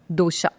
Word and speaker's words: Dosha: The original pronunciation is with an A.